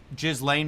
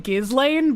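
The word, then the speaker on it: Ghislaine: that he met with Jizlane Maxwell and he said I I've always pronounced her name Gizlane but I like how he says Jizlane because it it just like in your mind associates her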